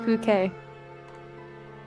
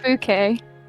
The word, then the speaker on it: Fouquet: It's pronounced Fouquet. Bouquet, isn't that Bukaki? No, Fouquet. Ah, Fukaki. Lyran? It's French. Fouquet. Spelled fuck.